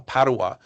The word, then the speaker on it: Padova: a beautiful city uh Padawa which is closer Padova I think they say in Italian it's closer to to Venice.